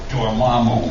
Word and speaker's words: Dormammu: I never knew that was the pronunciation. Dormammu.